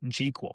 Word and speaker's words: GQL: on very good authority that's how you say it GQL kind of like SQL now you know interestingly